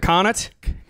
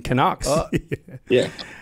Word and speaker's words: Connacht: Isn't it Connacht? Connacht. That's what I said. Oh, well, close. You sound like you guys are saying the Canadian Canucks.